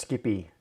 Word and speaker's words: SCPI: what was i saying that's right oh scpi pronounced skippy aha okay cool yes so sapi i've heard of that but i don't really